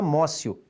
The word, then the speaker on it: amotio: aprehensión ou amós you você escreve amotio e pronuncia márcio ou seja basta a